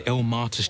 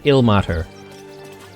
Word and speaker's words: Ilmater: If you're looking for Ilmater's charity, you're out of luck. They've turned their backs on us, like everyone else. Oh, so that's how you pronounce it. Ilmater. Not Ilmater. Well, I guess I can call it Ilmater.